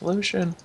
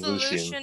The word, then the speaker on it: Lucian: a Lucian yeah doing it's Lucian I always call him Luan in the basket I don't know if you've know this but I don't really care how you pronounce it it's Lucian to me okay it's like youo